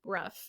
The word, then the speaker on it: Brough: be here Joe I name is actually pronounced Bruff which I should have